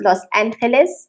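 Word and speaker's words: Los Ángeles: the sierra norte but moved to los angeles pronounced los angeles visited spanish and now his work was to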